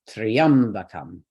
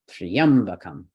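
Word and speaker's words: त्र्यम्बकम्: So we go left. Triam is both our last choice and a heavy syllable. Okay, so we'll stress triam. Sounds like Om Triambakam. Triambakam.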